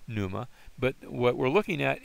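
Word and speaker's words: πνεῦμα: Pneuma. Now notice in this case I did not pronounce the pi or p.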